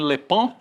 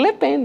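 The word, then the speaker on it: Le Pen: pronúncia de Marin lepen Ah é Marin lepon não é Marin lepen lepen não mas tem tem um como se tivesse um n é eu estava esperando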